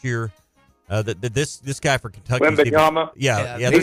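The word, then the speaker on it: Victor Wembanyama: Wendakumbo, how do you say his name, Ty? The dude who's taken number 1 last year. This guy for Kentucky. Wembanyama.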